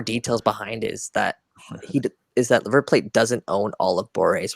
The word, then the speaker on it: River Plate: By the way, it's River Plate. That's how you pronounce it.